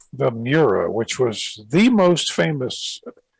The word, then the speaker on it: Miura: replacing the uh how do you say that miura right the miura which was the most famous lamborghini um i